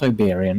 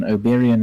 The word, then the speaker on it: Oberyn: obian martel oberyn martel it's not iberian oberyn is from midsummer night stream um overall oberyn there we go yes let's remove a couple syllables oberyn martel another interesting